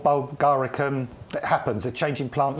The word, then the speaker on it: bulgaricum: Do you pronounce it Bulgaricum, don't you? Bulgaricum, yeah.